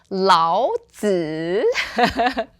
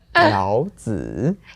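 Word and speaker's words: 老子: The often mispronounced Laozi. Laozi. Ugh. Okay, everybody, one more time with me. 老子. 老子. Yeah, and that's the third tone.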